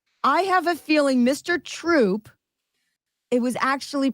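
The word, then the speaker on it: Throop: all right isn't that Troop it's troop they don't pronounce their H's in northeast PA it's one two three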